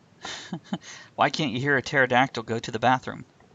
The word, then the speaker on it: pterodactyl: can't you hear a pterodactyl go to the bathroom the P is silent hey Andrea what do